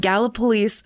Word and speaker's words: Gallipolis: So this story took place in and around the cities of Point Pleasant West Virginia and Gallipolis Ohio, which I can't believe that's the way it's pronounced when it looks exactly like Gallipoli.